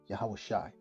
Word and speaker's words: Yahawashi: So when Jesus, whose name should have been translated in the New Testament Joshua, but is pronounced in the ancient Hebrew as Yahawashi.